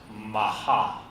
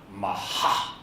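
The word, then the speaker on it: מחה: It's spelled M-A-C-H-A-H, but it's pronounced maha. It's pronounced maha.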